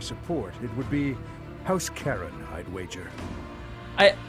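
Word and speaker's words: Charon: Karen I'd wager I I'm sure that's how you pronounce it but the entire time I was being like raised and I was a McNeill kiddo I always thought that was pronounced house car on or char on not Aaron house Karen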